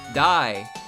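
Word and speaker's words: Daiyousei: Daiusei is D-A-I-Y-O-U-S-E-I. Dai-you-sei. Pronounced. Dai-yo-sei. But I can't pronounce it correctly because I can't do it.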